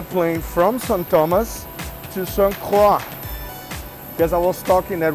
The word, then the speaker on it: St. Croix: Thomas to St. Croix. Because I was talking that we are going to St. Croix or St. Croix, like the French people would pronounce it like that.